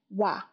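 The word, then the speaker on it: は: here to note that the word ha when it's being used as particle it should be pronounced as wa and Then we are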